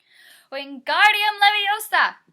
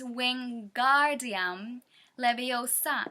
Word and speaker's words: Wingardium Leviosa: having much more luck Wingardium Leviosa he shouted waving his long arms like a windmill you're saying it wrong Harry heard Hermione snap its Wingardium Leviosa make the GAR nice and long you do it then